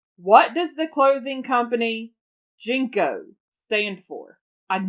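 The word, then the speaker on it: JNCO: wide leg jeans what does the clothing company jinko stand for i'm not sure i said it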